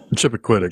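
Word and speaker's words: Chappaquiddick: What's how's that pronounced? Chipacquitic. Chipacquitic.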